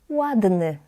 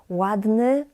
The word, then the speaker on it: ładny: Usually, it's quite challenging for English, Spanish speakers, and many other Polish learners to differentiate between the Y and E at the end. Ładny, ładne. I know this is challenging, but it comes with time, because your phonetic hearing needs to be trained.